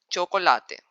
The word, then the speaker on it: chocolate: When C comes before H in Spanish, it is pronounced as CH as cheese in English. For example, chocolate.